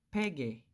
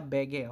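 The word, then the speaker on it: 배게: Ito po ay pege. Pege. Hindi siya bege, okay? It's pege kasi nasa first syllable.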